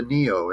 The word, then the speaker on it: NIO: The the Japanese, I think, or Chinese or Japanese, one of those two, invented this car called the Neo, and it's spelled just like my name, cheap bastard.